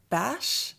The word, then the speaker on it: beige: Apparently the way that I've been saying the color beige, I was pronouncing it bash. And I've since learned from all the comments that this is more of a dialect thing.